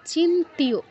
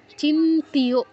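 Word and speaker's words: চিন্ত্য: না অবিক্ত মাচিন্তি মা চিন্তিয় চিন্তিয় চিন্ত বলা যাবে না চিন্তিয় চিন্তিয়তে প্লুত তিয়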